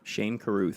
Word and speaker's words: Shane Carruth: Shane Carruth.